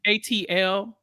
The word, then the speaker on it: ATL: don't miss oh miss next up is Atlanta which I I've never seen it's pronounced ATL oh my bad my